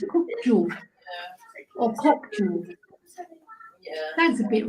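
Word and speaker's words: Kökçü: Because Kokçu. I think the C is, Ju, Kokçu. Because the C is pronounced as a J in Turkish.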